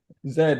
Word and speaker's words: Z: Zed. If you learned English uh via the British uh pronunciation.